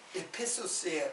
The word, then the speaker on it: 에페소스: 그래서요 이제 그 본래 발음으로 하면 밀레투스와 에페소스예요.